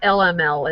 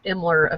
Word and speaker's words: Imler: So it's not LML, it's Imler FX.